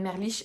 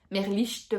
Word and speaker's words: Merlicht: Je trouvais que, j'aime bien le capitaine Merlich, j'aime bien son équipe, Merlicht, pardon, on va prononcer le T parce que c'est quand même un prénom allemand. Toutes les lettres sont prononcées en allemand, donc voilà.